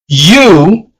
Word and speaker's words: u: U. The letter U is la. The letter U in Spanish is pronounced like the double O in moon.